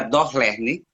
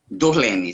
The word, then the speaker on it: Durlene: Dorlene. É do Lenner. Durlene.